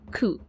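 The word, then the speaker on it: 九: The number nine and the word pain also share the pronunciation coup, though not as unlucky as four.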